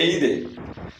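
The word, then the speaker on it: aide: ஸோ இந்த லாஸ்ட்டில் இருக்க ஆரை ஹச் மாதிரி ப்ரொனவுன்ஸ் பண்ணுங்கள். எய்து அப்படின்னா ஹெல்ப். நம்ம நார்மலாக இங்கிலீஷில் சொல்லுவோம் பார்த்தீங்களா, எய்டு அப்படின்னு, அதுலேருந்து இது வந்தது. ஸோ எய்து அப்படின்னு சொல்லணும். லாஸ்ட்டில் இருக்க ஆர் கொஞ்சம் ஹா மாதிரி சொல்லணும்.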